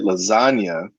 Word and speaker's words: lasagna: Now, in the word lasagna, we have a silent letter, which is the G. The G is silent in lasagna.